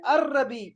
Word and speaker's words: الربيع: फिर आपने कहना है अर-रबी, ये लाम यहाँ साइलेंट है, लाम नहीं पढ़ना।